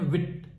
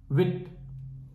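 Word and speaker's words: huit: होंगे ट की जो फ्रेंच में स्पेलिंग है एच यू आईटी तो इसे हम पढ़ते हैं विद एक्चुअली फ्रेंच में most of the time H जो होता है वह साइलेंट होता है तो इसलिए हम इसे पढ़ते हैं विट विट वापस से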